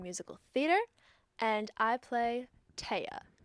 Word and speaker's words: Thea: a concentration in musical theater and I play TAA spelled like Thea T he EA but pronounced TAA